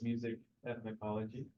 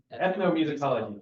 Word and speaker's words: ethnomusicology: he uh specifically does music ethnology correct say that right no okay say it right tell me ethn musicology there we go Joey see I can